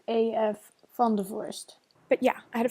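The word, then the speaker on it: A.F. Vandevorst: It's pronounced AF Vandervorst.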